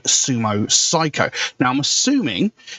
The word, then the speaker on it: Cyco: a band called sumo psycho now i'm assuming and the name of the band is psycho it's spelled um c-y-c-o i'm guessing it's done supposed to mean psycho kind of like the